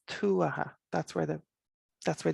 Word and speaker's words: Tuatha: people use their irish but please don't say tu aha or tuata it's tu aha that's where the that's where the emphasis is